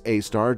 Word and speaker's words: Sagittarius A*: The issue is that we can't see Sagittarius A* (pronounced "Sagittarius A star") directly, as one might expect from a black hole.